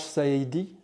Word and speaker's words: Saïdi: Arash Saïdi, je prononce bien?